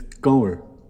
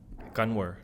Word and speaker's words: Kanwer: You don't say the N. So it's Gower. Gonwer. So like K, Gower. Gonwer, yeah, it's yeah. So Gower. Gonwer, yeah. Cower. And it could be a W Gower.